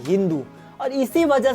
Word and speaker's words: हिंदू: ईरानी और तुर्की लोग 100 को ह कहते थे, इसी वजह से उन लोगों ने सिंधु शब्द को प्रोनाउंस किया हिंदू, और इसी वजह से सिंधु लोग हो गए हिंदू।